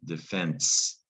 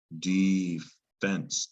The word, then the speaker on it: defense: turns into the noun defense actually defense has two pronunciations defense you hear that in sports a lot defense defense defense there's also defense and you know that from self-defense so defense is a